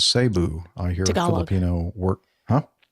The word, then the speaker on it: Cebu: He says the Tagalog pronunciation is sabu.